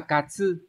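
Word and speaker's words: 担: Một âm nữa đó là katsu. Trong từ katsugu, động từ có nghĩa là khiêng, vác, khiêng đồ, vác đồ thì cũng dùng từ katsugu nhá. Âm ghép của nó sẽ đọc là tan, ví dụ chúng ta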